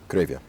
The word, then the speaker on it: Cravia: Uh you pronounce it Cravia. Cravia.